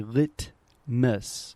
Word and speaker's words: litmus: and really trying to articulate I will say litmus litmus but if I'm speaking normally in a